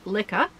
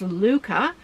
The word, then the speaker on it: Lykke: is the blush luca i learned that that's apparently how you pronounce what i've been saying lika but it's luca um blush interchangeable circular